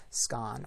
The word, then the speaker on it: scone: Does that word rhyme with gone or cone? So do you say scon or scone?